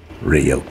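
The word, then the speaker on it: Ryuk: Hey kid, it's pronounced Rio.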